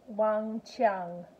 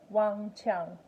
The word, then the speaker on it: Wang Qiang: I am G Q in Mandarin is always pronounced sure so it's one Chun one Chun that's her name one Chung have a great day everyone oh and if